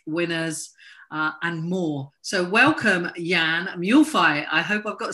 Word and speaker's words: Jan Mühlfeit: So welcome, Jan Mühlfeit. I hope I've got the surname right again. That's okay. Yeah, it's a very, tough to pronounce it. Jan Mühlfeit is the right, Jan, but it's a German name, I struggle.